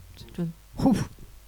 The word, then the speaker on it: John Hughes: Au niveau de la réalisation, alors désolé pour la prononciation, ils font appel à John Hughes. C'est bien John Hughes.